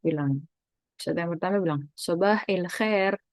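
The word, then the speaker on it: صباح الخير: Ustadz bilang, Ustadz yang pertama bilang, Sobah il khair. Kemarin kita udah belajar tentang kalau alif lam itu bacanya il. Kan harusnya kan alhamdu misalnya gitu ya. Alhamdu, tapi ilhamdu. Al khairu jadi il khair gitu.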